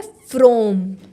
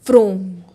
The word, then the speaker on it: Fraum: तो जो हनुमान जी का मंत्र है वो है फ्रोम। फ्रोम। फ्रोम। ओके और इसकी अगर किसी को स्पेलिंग चाहिए हो तो FRAUM। ओके फ्रोम, इसका उच्चारण ही यही है।